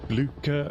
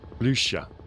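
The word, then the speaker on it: Blücher: Blucher rhymes with languisher. Blucher.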